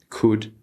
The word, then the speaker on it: could: as you can see these L's need to be silent would could and should we don't want to say w or Co or sh or something like that it would sound very strange to an English native but if you've been